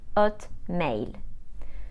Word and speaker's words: Hotmail: Gmail is pronounced je male and Hotmail is pronounced at mail KO is pronounced KO com is pronounced com